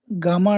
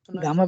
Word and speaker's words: gamma: Okay, so okay, गामा डीके, और कई बार कहते हैं गैमा डीके, इट is more pronounced as गैमा, क्योंकि इंडिया में गामा पहलवान एक हुआ करते थे, ही वाज सो स्ट्रेंथफुल.